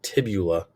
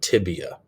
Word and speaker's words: tibia: have the fibula okay remember it's tibia and fibula remember to spell those correctly if you spell it tibula or phibia it's wrong okay so it's fibula and tibia okay and then the